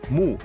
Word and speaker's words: mu: quería escribir por ejemplo para escribir año que se pronunciaba mu en sumerio se utilizó el signo de planta que también se pronunciaba muy esto permitió crear un